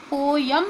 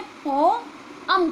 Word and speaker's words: poem: पोयम नहीं कहा मैंने, इसे पोअम कहा। अ की जो बीच में आवाज़ आई वो बहुत हल्के से आई, तो ऐसा लगा जैसे मैंने पॉम बोला, लेकिन वो पॉम नहीं है, वो पॉम है।